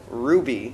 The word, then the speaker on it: RWBY: the creator of RWBY it's actually called Ruby yeah that's what I thought like but it's spelled RWBY yeah and then but there's